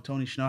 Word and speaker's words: Tony Shhnow: of my favorite songs right now tony schnow tony shnow how are we doing today how are we doing today my boy am i pronouncing that right yeah he was all right